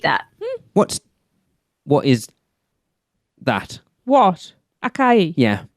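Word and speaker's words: açaí: And acai, am I pronouncing that correctly? Because Acai.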